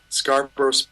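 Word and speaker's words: Scarborough: Scar bro just like the fair.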